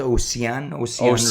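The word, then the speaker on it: Osian: Cesc Fabregas is technically the manager, but there's, how do you pronounce his first name? Is it Ocean Roberts?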